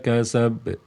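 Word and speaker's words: كسب: ma agnau mauhu w kasab kasab ada penekanan sedikit atau penundaan sedikit saja ya ada penundaan sedikit saja kasab kasab tidak langsung dipantulkan kasab kasab tidak tapi ada penekanan sedikit kasab bukan penekanan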